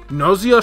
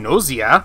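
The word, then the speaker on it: Gnosia: And if you're wondering about the game that he worked on, Gnoise, which I believe the G is silent, I'm not 100% sure about that, it's sort of a cross between Danganronpa, Zero Escape, and Deathmark.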